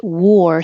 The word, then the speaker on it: war: And war, spelled with an A, and wore, past tense, I wore this yesterday, both sound like OR, war.